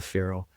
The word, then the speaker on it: feral: He's feral, as he would pronounce it. I pronounce it feral.